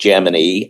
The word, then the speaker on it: Gemini: So everything within NASA was pronounced Gmany.